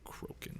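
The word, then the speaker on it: Crokin: name again Liz kroen Liz croen at least that's how I think it's pronounced okay uh one Z Liz yep and then croen croen yeah and then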